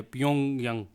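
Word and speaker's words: Pyongyang: अच्छा, इसका जो करेक्ट प्रोनाउंसिएशन भी यही है, प्योंग यंग.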